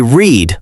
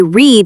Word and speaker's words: read: In the present, we say read like the color green. And in the past, we say read like the color red.